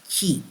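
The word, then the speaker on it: 齐: uh is written by is written as Qi but I know from Netflix epic Chinese series that is pronounced ke the new find suggests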